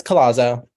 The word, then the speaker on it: Collazo: with us I'm here how do you pronounce your last name Andrew it's colozzo Collazo okay I I